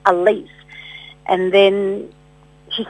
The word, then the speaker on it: Alyce: she is a female but her name is Elise and her name is spelled a-l-y-c-e she was born in the late